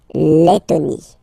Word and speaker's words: Lettonie: So remember when you get this and then a double letter like that, T, okay, then you will have to open your and it will become Lettonie, la Lettonie.